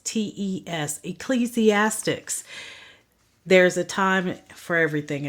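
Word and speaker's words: Ecclesiastes: is Proverbs the next book which I hear mispronounced quite often is ecclesiastics the e CC l e s i a s Tes ecclesiastics there's a time for everything a season everything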